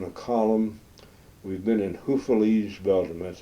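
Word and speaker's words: Houffalize: day we're in a column we've been in Huf Belgium that's U FF a l i z e hu's a lovely little uh Resort town on a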